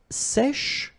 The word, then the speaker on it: sèche: Un sèche. So this one is a bit tricky. So remember, we've got this accent grave here, so it's really open.